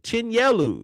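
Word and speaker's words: Chinyelu: So the loss that Florida took, Chinleu, Chinelu, Chinellu, Chinelu, Chinelu is how you say it.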